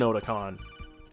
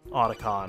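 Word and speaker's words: Otacon: Odicon, Oticon. I keep saying his name wrong. It's not my fault. There are two places. His name is based off of a convention called Oticon in Japan.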